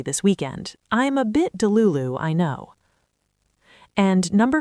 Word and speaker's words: delulu: Number 4, Delulu, pronounced Delulu.